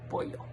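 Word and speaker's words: pollo: this is another very fun word chicken is boil so that double o is kind of like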